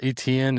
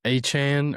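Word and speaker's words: Etienne: Like, what does he say it's pronounced? It's like Achane or Achane.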